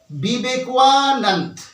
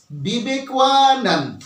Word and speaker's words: বিবেকানন্দ: আমরা উচ্চারণটা করছি বাংলাতে এই বিবেকানন্দ উচ্চারণের সময়তেও আমাদের একটা ভুল রয়েছে সেই ভুলটা কোথায় দেখো আমাদেরকে এই সহজভাবে বিবেকানন্দ উচ্চারণ করলে চলবে না আমাদেরকে কিভাবে উচ্চারণ করতে হবে আমাদেরকে উচ্চারণ বিবেকানন্দ এভাবে বললে চলবে না কিভাবে বলতে হবে আমি দেখাচ্ছি দেখো বিবেকানন্দ বিবেকানন্দ অর্থাৎ এই বিবেকানন্দ মধ্যে ওয়া উচ্চারিত হতে হবে আমি একটু আগে কি